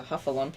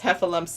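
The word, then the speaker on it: Heffalump: who actually watched it it's heffa lumps and woozles you know yeah you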